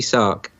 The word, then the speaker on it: Sark: I think when you talk about short skirt, talk about a cutty sark.